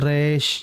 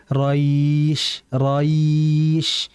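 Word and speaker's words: قريش: Nah, bukan resh, yang betul raish, ya atau ya, raish bukan raish.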